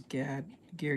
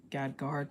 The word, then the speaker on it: Gad Guard: of people know this one but it was Gad gear Gad I no Gad guard sorry I said it wrong um there was